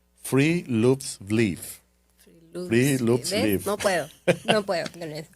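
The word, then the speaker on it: friluftsliv: que sabe noruego, pero supuestamente la pronunciación es algo así como que free loops No puedo, no puedo con eso y básicamente eso es una filosofía, ¿no?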